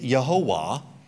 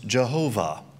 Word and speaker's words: Jehovah: Well, if you take Yehovah and run it through the German washing machine, it becomes Jehovah. When you say Jehovah, what you're doing is you're really just kind of mispronouncing the divine name that's in there.